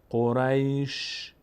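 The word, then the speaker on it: قريش: تا اینجا که آسونه، فقط این شین ساکن رو چطور دوباره تلفظ کنیم وقتی قبلش هم ساکنه؟ قریش. دقت کنید، قریش. شین یک صدای ازش میاد اما حرکت نداره. الان من به شین حرکت ندارم، نگفتم قریشه یا قریشه یا قریشو. قریش فقط شنونده متوجه میشه که یک صدای شینی آمد.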